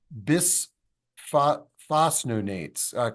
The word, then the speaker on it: bisphosphonate: I was encouraged by this, and I do have osteoporosis, and I've been reluctant to take bisphosphonates. Can somebody pronounce that?